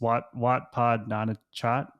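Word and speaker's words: Wat Pah Nanachat: Can you help me with pronunciation? It's Wat Pod Nana Chat.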